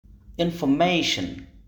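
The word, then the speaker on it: information: অবশিষ্ট দুটি unstress syllable ইনফরমেশন শব্দটির উচ্চারণ লক্ষ্য করলে পার্থক্য বুঝতে পারবো অর্থাৎ এখানে মেই অংশটির উচ্চারণ লাউডার লঙ্গার এবং পিচ চেঞ্জের মত স্ট্রেসের সবগুলো চরিত্র ফুটে উঠেছে ইন যেহেতু সেকেন্ডারি স্ট্রেস তাই প্রাইমারি স্ট্রেসের তুলনায় উচ্চারণটি একটু কম ফুটে উঠেছে এবং অবশিষ্ট আনস্ট্রেস অংশটি স্বাভাবিক উচ্চারণ হয়েছে স্ট্রেস ব্যবহার করার ফলে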